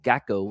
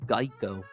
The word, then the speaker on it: GEICO: He was originally created because people kept mispronouncing the company name as Gecko instead of Geico.